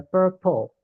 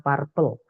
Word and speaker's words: purple: Contohnya ada purple, ungu, vibrant. Ini bacanya per ya, bukan par teman-teman. Karena banyak yang bacanya purple.